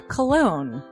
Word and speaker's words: Colon: It is a self-published book by Christopher Cologne. Chris Cologne? Smells good to me. But look at her. That broke that fucking cold little exterior. He's like, hee. But it is spelled Colon.